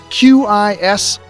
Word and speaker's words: Quismas: That's how you pronounce Quismas. Quismas, just pretend you're 6 years old.